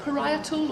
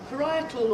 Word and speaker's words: parietal: The parietal or paratal does anybody know how it's pronounced? Parietal. Parietal. Thank you.